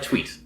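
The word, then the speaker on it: Thweatt: oh yeah I would need some sweet like tweet yes exactly so so Rick asks in fact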